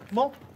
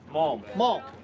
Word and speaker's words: Malm: And I've got the guys, I tell you what, I got Scott Cook and, how do you pronounce the last name? Malm. Malm.